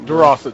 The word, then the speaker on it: Durossette: Durossette, Durossette.